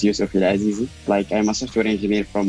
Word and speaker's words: Youssouf EL Azizi: So my name, to pronounce it correctly, my name is Youssouf EL Azizi.